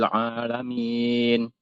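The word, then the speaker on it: الْعَالَمِينَ: ee huruf ainnya ya juga masih harus dilatih mungkin karena kita ee memang di bahasa Indonesia ini tidak ada huruf ain ya. Jadi mungkin agak sedikit kesulitan orang Indonesia mengucapkan huruf ain.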